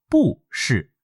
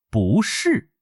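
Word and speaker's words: 不是: 不能读成不是，听起来很费力。我们要把不变成第 2 声，读作不是。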